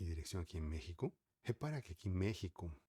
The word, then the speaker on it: México: a gente não fala México nem México. Por exemplo, os americanos falariam México, mas em para nós que falamos espanhol, a gente costuma falar México, como se fosse J, México.